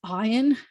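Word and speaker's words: עין: And so it kind of makes a little bit more noise than your eye does. If you try to be a really noisy eye, nope, can't hear it. It's noisier than that.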